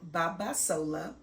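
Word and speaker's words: Babasola: my name is Babas Sola b a b a s o l a and it is pronounced exactly how it is spelled I am a mom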